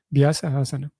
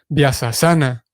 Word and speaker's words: Vyasasana: Y que también a veces se pronuncia comúnmente, no tradicionalmente, pero sí, comúnmente se pronuncia Vyasasana, que de vuelta, de acuerdo con los entendidos en el tema, es una pronunciación bastante fuera de orden. Vyasasana sería Vyasasana, un detalle.